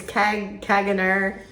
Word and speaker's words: Caganer: Do you want to try to pronounce the name of that store? It's Caganer, it's just like it sounds.